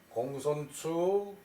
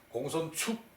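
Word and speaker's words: 公孫丑: 그런데 여기서는 이름으로 쓰일 때는 추라고 읽어요. 축이라고 써놓고 이름으로 읽을 때는 추라고 읽어요. 요런 것은 이제 바꿀 수가 없죠, 그죠? 맹자의 제목으로 공손추, 맹자의 편명으로 공손추가 나오는데 공손축 그러면은 이상하겠죠, 그죠? 공손추 문활 부자 당로제 간중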